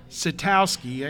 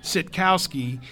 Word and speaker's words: Sitkowski: This quarterback, he's a freshman, Artur Sitkowski, I think is how you pronounce his name, Sitkowski, from right there in New Jersey, right near Rutgers.